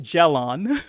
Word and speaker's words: Gilon: Okay, we'll pronounce it Gelon.